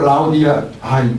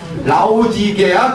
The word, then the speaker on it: 라오디게아: 토해버릴 것이다 하는 교회가 바로 라오디 아 발음이 오늘 왜죠 라오디게아 교회입니다 예 라오디 라오디게아 교회네